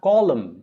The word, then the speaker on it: column: god then you have column column call lum column column is a